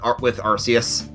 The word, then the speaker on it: Arceus: Like, with Arceus. Which I tend to go for the soft C. Just because that's how I first read it.